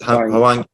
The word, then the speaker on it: Hwang: Hwang, is it Hwang?